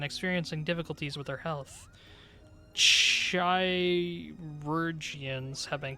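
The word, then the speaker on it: Chirurgeons: Chirurgians, I believe, is the pronunciation.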